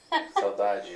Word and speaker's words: saudade: Saudade is the feeling of nostalgia.